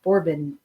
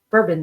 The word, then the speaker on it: Bourbon: between the Habsburg and bourbon bourbon Dynasty bourbon bourbon spelled like bourbon so I'm going to say it that way yeah uh the Newly